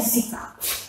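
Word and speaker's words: Sika: Пишется как Zika, звучит, говорят они Zika.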